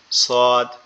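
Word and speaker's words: ص: জিহ্বার আগাটা নিচের দুই দাঁতের আগার সঙ্গে লাগবে। লেগে উচ্চারিত হবে সদ সদ সদ সদ এভাবে।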